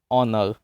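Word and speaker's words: honour: इसी तरह ऑनर में भी एच साइलेंट है, तो इसलिए भी यहाँ पर आर्टिकल एन का यूज होगा।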